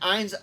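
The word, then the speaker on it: Ainz: short a literally okay he just sounds like ein's old gown yeah i know he's pronounced eins we let the joke stand yes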